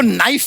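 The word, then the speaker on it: knife: सलमान जी आपको नाइफ word मालूम है नाइफ उसमें शुरुआत में जो के होता है वो क्या है साइलेंट आप भी रहिए।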